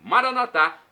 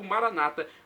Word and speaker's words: Maranata: de Jesus eu clamo Maranata com a tônica na última sílaba como falamos nós católicos ou Maranata como dizem nossos irmãos separados os evangélicos ou protestantes não importa pronúncia significado